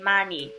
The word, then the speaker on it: 많이: N and an H, but as we already know, H doesn't really make a sound, so you could just say 많이 for this one.